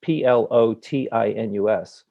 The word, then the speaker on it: Plotinus: the course comes from is that plotinus it's p l o t i n u s but it is pronounced plotinus um lived in about the second